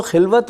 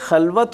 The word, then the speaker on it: خلوت: سبحان کہ پھر تو خلوت میں عجب عجب انجمن آرائی ہو. اب یہ خلوت اور خلوت دونوں تلفظ ہیں. یہ جو خلوت ہے یہ تو تنہائی ہے نا، لیکن اس میں انجمن